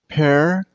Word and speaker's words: parrot: It has 2 syllables, Parrot. And use a stress on the first syllable. I mean on pair.